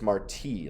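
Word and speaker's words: Martí: dad was funny about marty's name always making sure people knew how to pronounce it properly it's marti like jose marti the cuban poet not marty like marty mcfly from back to the future oh marti remember when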